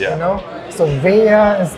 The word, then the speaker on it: Veya: How do you pronounce it correctly? Vaya or Vaya? Vea.